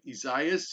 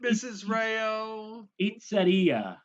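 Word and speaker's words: Isaías: to pronounce it right mrs rayo yes like pizzeria no please don't you know yeah no no there's no there's no the s at the end so the s is silent are you sure this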